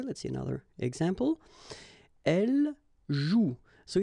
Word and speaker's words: joue: And it's exactly the same rule, so you've got this after, but then clearly you don't pronounce it. Okay, elle joue.